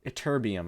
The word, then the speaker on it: Ytterbium: Ytterbium. I think I'm pronouncing that right. Let's make sure. Ytterbium. Ytterbium. I said that right.